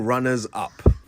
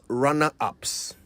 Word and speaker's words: runners-up: And that's runners-up, not runner-ups. You know, this is quite a common mistake. The easy way to remember how to say it right is by remembering that it is the runners that are plural, not the up.